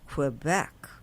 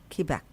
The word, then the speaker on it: Quebec: Okay, so from Montreal we went to and it's not pronounced Quebec in Canada. It's called Quebec. Quebec.